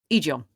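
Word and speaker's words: Egeon: Was it Egon? Egon? Egon. Egon, yes. Because it's spelt without the A here, interestingly.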